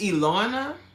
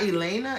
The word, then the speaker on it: Ilona: It's Ilona. It's not Elena. It's Ilona.